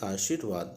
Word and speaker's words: आशीर्वाद: यही होता है सही, आशीर्वाद। सा के बाद देखिए उच्चारण में सा के बाद रा आ रहा है, इसलिए रा वहाँ पे होना चाहिए, आशीर्वाद।